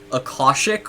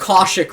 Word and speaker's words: Akashic: Akashic records? That's right. That's correct. Akashic records.